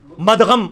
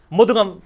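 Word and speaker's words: مدغم: हम ये लफ्ज भी यानी मदगम इस्तेमाल लफ्ज कर रहे होते हैं, क्यों जी? मुदगम, सही प्रोनाउंसिएशन मुदगम है।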